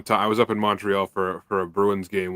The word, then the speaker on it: Montreal: if you're not most people will say Montreal and it's just like that no it's Montreal it's Montreal like a u instead of an O if you're from here that's how you say Montreal how do you say